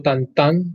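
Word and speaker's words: Tintin: Bueno, vamos a seguir aquí con otro personaje franco, de la escuela franco-belga, Tintín o Tantán, como se pronuncia, por aquí lo tengo en el celular.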